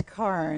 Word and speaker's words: Carne: welcome my guest Karn is it Karen her car it's car car I did say it right we're just talking about